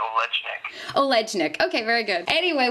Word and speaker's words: Olejnik: I'm a little more rough with it. I say Olejnik.